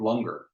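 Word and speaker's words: langar: the seek practice of longer rhymes with hunger and it's a free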